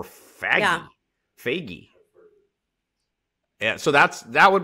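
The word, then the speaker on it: Fage: office you'll know but f-a-g-e for a yogurt literally to me either is phage or fagi yeah so that's that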